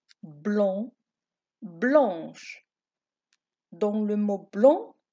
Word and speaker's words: blanc: Blanc, blanche. Dans le mot blanc, on ne prononce pas le C.